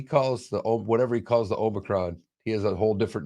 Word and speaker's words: Omicron: Like all media outlets are saying Omicron, but it's actually Omicron.